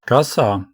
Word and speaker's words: коса: Коса, коса, scythe. I hate this word. I always forget how to pronounce it in English, but in Russian it's pretty easy.